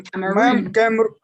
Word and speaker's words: Cameroon: So it's the word camera without the A and the word noon without the N. So Cameroon. Cameroon.